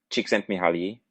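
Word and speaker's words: Csikszentmihalyi: And then there's Chicken Mahali. Wait, Mark, did I say his name right? Close enough. Chicken Mihali.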